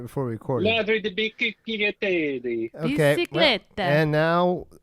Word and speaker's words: Ladri di biciclette: Ladri di biciclette.